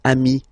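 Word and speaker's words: amis: the plural form then you just add this final s here okay but then technically you pronounce it the same way so singular form Ami plural form you add this s but it's Ami as well okay in that case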